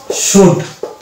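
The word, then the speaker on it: should: এস এইচ এর তাহলে সহ এটা হয়ে যাবে শুড শুড নেক্সট পেয়ে যাব এখানে এখানেও দেখছি ও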